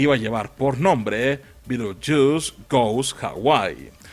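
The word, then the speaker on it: Betelgeuse: A pesar de que el verdadero nombre del personaje es Beetlejuice, este se pronuncia Beetlejuice porque sonaba muy divertido y era más fácil de posicionar en el mercado.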